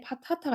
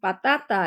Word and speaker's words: patata: 또르띠아는 우리가 말하는 토르티아라고 되어 있는데 스페인식 발음은 또르띠아고요. 그 다음에 데 파타타라고 되어 있는데 파타타가 아니고 빠따따 해가지고 된소리로 발음하셔야 돼요.